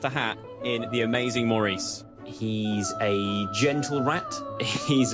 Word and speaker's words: Maurice: You pronounce Maurice like this. You do not pronounce it Maurice.